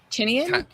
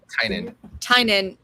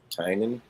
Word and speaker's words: Tynan: James Tinian? Tynan. Tynan. It looks I like guess because it's supposed to be like Tiny Onion, because that's his thing, is that he did like Tiny Onion.